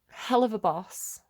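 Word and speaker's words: Helluva Boss: on YouTube not webtune hell of a boss it's called it's called haloa it's it's spelled haloa boss but it's pronounced hell of a boss it reminds me of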